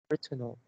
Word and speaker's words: retinal: This is pronounced retinal, and you pronounce retina. You pronounce retinal. And the first one is the pronunciation, and the second is the stress. The stress is more on the first syllable, right? Yeah, so it's retinal.